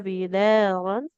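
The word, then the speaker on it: بدارا: Wala ta'kuluha israfan wa bidaran. wala ta'kuluha israfan Hmm? israfan wa Tidak bitaron israfan. Masukkan ke huruf wawunya langsung.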